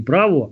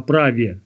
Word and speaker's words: праве: праве слави опять же не право а праве если правь пишется через еро ере через мягкий знак